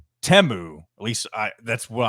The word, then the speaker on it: Temu: company that had the most advertisements but it's temu at least I that's what I've learned that it's how it's pronounced it used I used to call it teu but in the commercial you heard them singing